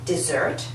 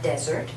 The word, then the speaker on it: dessert: someone after the meal would you like some dessert not would you like some desert but would you like some dessert this is